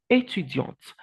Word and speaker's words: étudiant: étudiant and you have étudiante. So you can say, je suis étudiante. For a female, je suis étudiante. But for a male, the T is silent. Je suis étudiant.